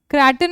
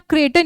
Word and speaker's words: craton: with the word craton congo kraton or creighton you can say the pronunciation then here is zimambe